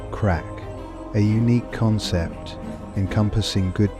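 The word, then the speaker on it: craic: The Irish call this tradition crack, pronounced crack.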